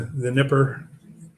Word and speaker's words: Dnieper: The Dnieper, even though it's spelled Dnieper, they pronounce it Dnieper River, building a new bridge across.